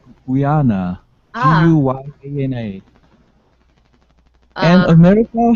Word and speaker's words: Guyana: It's Guyana. It's Guyana. Do you know the country? Ghana. Yeah. Ghana? No, Ghana. It's Guyana.